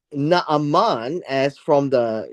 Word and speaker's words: Naaman: This is how his name is called. His name is Naaman, as from the sound